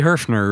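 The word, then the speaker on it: Höfner: Now but we're talking about Hofner. Wouldn't it it's got an umlaut. Wouldn't you say Herfner? It'd be Herfner really. I mean if you're going to say it right. Herfner.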